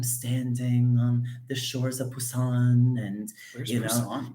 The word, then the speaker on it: Busan: korean they wouldn't say busan they say busan it's actually a p sound so interesting yeah technically